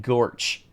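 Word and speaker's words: GOARCH: LM okay now I'm remembering uh when I was when I was a former employer I learned that Goos and go Arch are canonically pronounced goose and gorch this is information that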